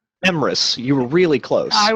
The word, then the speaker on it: Emrys: Emrys, you were really close.